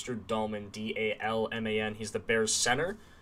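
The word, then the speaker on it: Dalman: Well, you spelled his name wrong. It's Drew Dahlman, D-A-L-M-A-N.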